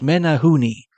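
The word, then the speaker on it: Menehune: Menagu and Prince Edward Island are abomin pronounced Menahooni.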